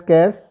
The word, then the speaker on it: cache: Next thing is कैश memory, pronounced as cache.